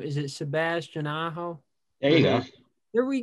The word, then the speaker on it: Sebastian Aho: how do you say his name is it sebastian aho there you go there we go um he's